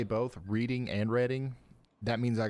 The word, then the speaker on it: Reading: It's Teague for Teague, like league, and reading, PA. Is reading. Just trying to help you score some extra credit, boss. I said Teague right. I know I did. And whenever I say both reading and reading, that means I got it right.